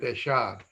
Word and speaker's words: dejar: Dejar, we pronounce it deshar.